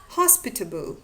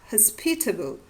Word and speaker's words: hospitable: diachronical recessive tendency or the stress on the second syllable under the influence of the strong rhythmical tendency of the present day. For example, hospitable or hospitable, distribute or distribute, aristocrat or aristocrat.